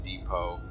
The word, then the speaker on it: depot: But yeah, two actual words to use is conciliare and depot, because neither of which need their silent lettering.